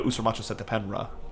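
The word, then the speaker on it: Usermaatre Setepenre: Usurmatra Setapenra.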